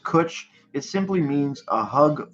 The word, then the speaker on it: Cwtch: the best word ever pronounced kuch there we go there's some answers pronounced kuch it simply means a